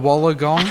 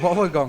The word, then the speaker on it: Wollongong: Wollongong. Even I know they don't say it like that. Wollongong, that's it. Innit? Wollongong. There you go. Wool, like a woolen jumper, Wollongong.